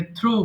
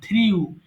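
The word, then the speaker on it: threw: আচ্ছা, তারপরে মাঝখানে আছে থ্রু, এতদিন আমরা জানতাম থ্রিউ, এজন্য রেড মার্ক করে দিয়েছি। পাস্ট টেন্সের সঠিক উচ্চারণ হবে থ্রু। থ্রু মানে নিক্ষেপ করেছিলাম, এটা থ্রিউ হবে না।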